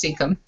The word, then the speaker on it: cecum: By the way, I got corrected on that today. It's pronounced cecum.